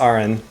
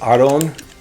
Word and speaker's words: Aran: Technically it's Aron, but you know, can't really do the Japanese rolling R when you're doing something in English.